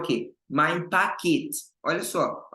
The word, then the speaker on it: Paket: Mein Paket. Olha só. Olha a pronúncia, pessoal. Paket. Não é pact. Pact é pacto. É paket. Pact, paquete.